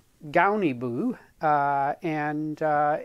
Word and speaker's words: Guniibuu: you can call it gunny boo if you want uh but according to the internet uh the u is pronounced like america or about so it's donnie boo and uh it has